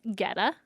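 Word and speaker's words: goetta: for me again g-o-e-t-t-a -g okay but it's pronounced Getta okay and it is a meat and grain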